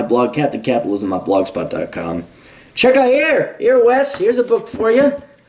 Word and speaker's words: Wes: Wes rhymes with bless.